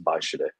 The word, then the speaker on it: Weischede: It's a German last name, and so the W is pronounced V, and so in Germany you'd pronounce this last name as Weischede.